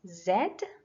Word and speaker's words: Z: v and z uh Z is also pronounced in another way which is Zed and that's how we pronounce it more in British English so the next sound